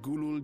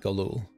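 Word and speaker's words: Gulool: spoke in confidence with Gulul Jaja's inner circle. Gulul, not Galul.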